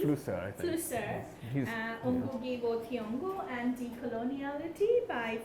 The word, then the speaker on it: Flusser: Willem Foster, did I pronounce correctly? Flusser, I think. Flusser.